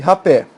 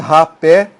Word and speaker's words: rapé: Por exemplo, nesse caso aqui, cajá, fubá e rapé. Veja, você fala cajá, sílaba tônica está aqui. Você não fala caja. Fubá, fubá. Aqui é a sílaba tônica, rapé, rapé. Isso não é rap, nem fuba, nem caja.